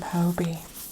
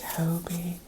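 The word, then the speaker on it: Hobbii: weight the cotton blend is it Hobie or is it hobby probably makes more sense to be hobby but is spelled h o BP I I but I will save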